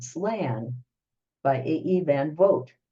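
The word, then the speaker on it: van Vogt: called slan by AE van vote it's pronounced like you know Cas your vote uh this person this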